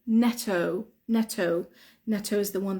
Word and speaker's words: Netto: is Neto Neto okay so Neto is Double T yeah Neto is Double T but we don't say Netto we say Neto Neto Neto Neto is the